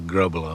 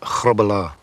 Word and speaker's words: Grobbelaar: between the posts here in Britain Nikola grow Bella because it's easier for the English pronunciation you have to come around but really it's kabbala get the back of the throat going and rolls ours for the Dutch way of doing it said horrible ah and